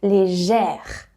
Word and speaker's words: légère: Légère. See? Léger, E-R. So you don't need any accent because it is E. Légère, to have that sound E, very open.